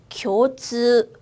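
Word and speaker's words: 共通: 스라고 그냥 읽는 게 아니라 장음으로 즈우. 한 번 더 읽어볼게요. 공통입니다. 교즈.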